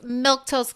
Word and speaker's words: Milquetoast: My name's Milquetoast.